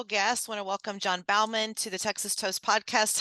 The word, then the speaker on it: Baumann: you today I'm good I appreciate you pronouncing my last name right yeah well it could have went both ways I did my research because I actually grew up with with families that had the same last name as you but it pronounced differently but then I realized you Bowman so yeah we want